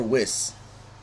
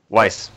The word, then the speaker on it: Weiss: Is it pronounced Weiss or Wiss? Weiss. Weiss.